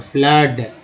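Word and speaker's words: flood: FLWD फ्लड में double O का उच्चारण जो है सो आ के रूप में हो रहा है, फ्लड।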